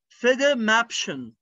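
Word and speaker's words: Federmäppchen: المقلمة فيدا مابشن، فيدا قسمها لو ما قسمتهاش مش هتعرف تنطقها، فيدا مابشن، فيدا مابشن.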